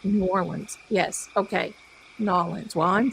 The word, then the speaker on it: New Orleans: Wherever when you're there in that beautiful historic city, the locals say Norins. You have it correct. New Orleans.